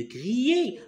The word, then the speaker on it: crier: Ça ne sert à rien de crier. Alors regarde bien. Crier. Cri. Alors ER. Regarde bien ça là. ER se prononce E.